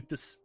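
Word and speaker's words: です: Yoroshiku desu. Yoroshiku desu. This, how you pronounce it? This, it's des, but it's like this. I guess I had to exaggerate the S part.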